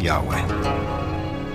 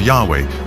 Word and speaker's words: Yahweh: And his name was these four letters, which in English would be YHWH, which we think were probably pronounced something like Yahweh.